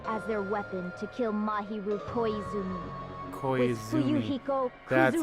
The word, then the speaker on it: Mahiru Koizumi: who used me as their weapon to kill mahiru koizumi that's how you pronounce her name i see that's what you